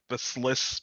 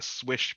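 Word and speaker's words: Slysz: I just found out that the other day that I've been pronouncing the Sliss Bowie or whatever wrong. It's supposed to be pronounced the Swish Bowie.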